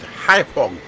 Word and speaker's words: Haiphong: And we are heading over to, I think it's pronounced Haiphong.